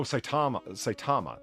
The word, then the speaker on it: Saitama: Oh, Saitama. That's how you say it.